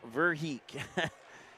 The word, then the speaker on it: Verheek: Let me look at my phonetics. Verheek. There we go, Verheek.